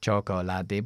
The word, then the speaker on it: chocolate: pronunciados como por ejemplo chocolate Pues aquí esto es una shua aquí tenemos una l Así que esto lo quitamos y decimos chocolate chocolate juntamos la con la l chocolate o vegetable no vegetable